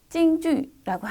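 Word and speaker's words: 京剧: 경극은 중국어로 찡주라고 하는데요.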